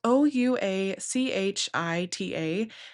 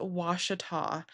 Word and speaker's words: Ouachita: the Ouachita National Forest and yes, that is how you say that word. It's spelled O U A C H I T A and it's not a Ouachita, it is Washita.